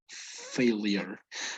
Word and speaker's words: failure: have probably heart failure but it's failure failure as if you had an i between the l and the u okay it's heart failure